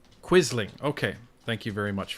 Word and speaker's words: Quisling: It's pronounced Quisling.